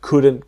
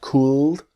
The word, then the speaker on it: could: the same same situation the l is silent so it's not cooled but could practice with